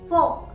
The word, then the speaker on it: fork: इसी तरह से फोक, FORK, फोक। इसका रीजन क्या है? क्योंकि आर के बाद क का साउंड सुनाई दे रहा है और क अगेन एक कॉन्सोनेंट साउंड है, इसीलिए हम आर को साइलेंट रखते हैं। पर कुछ लोग फोक को फोर्क भी बोलते हैं। फोर्क, यस, एंड इट is absolutely right.